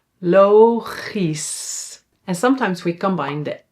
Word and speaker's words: logisch: Yeah, we pronounce it as is. So here we don't say that's only when it's at the end of a word. For example, fantastisch. fantastisch and logisch. logisch.